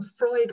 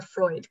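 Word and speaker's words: Froid: and so that's where freud came from i also love that it's it's pronounced like sigmund freud um so that's that's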